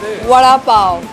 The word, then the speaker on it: vada pav: So this is vada pav.